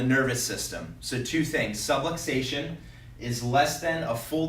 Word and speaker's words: subluxation: for what it means and this word is pronounced subluxation so I want to explain exactly what that